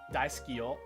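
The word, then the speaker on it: だいすきよ: So like, if the word was like "I love you," right, or "daisukiyo," right, "daisukiyo" is four, right? Is four syllable. "Daisukiyo." In fact, dai is the stressed part.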